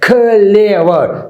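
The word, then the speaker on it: clever: ऐसे नहीं बोल सकते क्लेवर, इसकी असल प्रोनाउंसिएशन है क्लेवर। क्लेवर, ख की आवाज खत्म होती है, एल की आवाज शुरू होती है, एल की।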